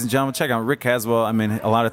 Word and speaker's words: Caswell: It's Caswell, correct? That's correct. I mean, a lot of people pronounce things differently, so I didn't know. It's been Caswell, Casual. I've gotten Casual.